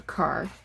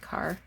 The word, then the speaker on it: Kerr: Gordon Kerr, or Carr, some people pronounce it Carr.